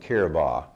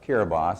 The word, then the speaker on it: Kiribati: This is a little island out in the Pacific called Kiribati. The B-A-T-A is pronounced by the islanders Ba.